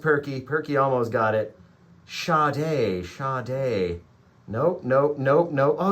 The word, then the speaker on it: Sade: uh smooth operator right that is how it is spelled shade Sade so everyone kept adding an H right here